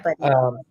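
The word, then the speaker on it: Budde: Is that how you pronounce her last name? Buddy? Yeah, Buddy.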